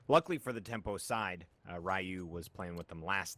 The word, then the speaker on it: Ryu: Hey, there's an American pronunciation and there's a Japanese pronunciation.